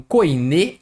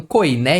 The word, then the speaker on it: koiné: ou o grego koiné essa palavra às vezes eu vejo sendo pronunciada como coin às vezes como koiné então me corrija aí eu vou escolher koiné aqui por causa do acento aqui que tá em português e eu vejo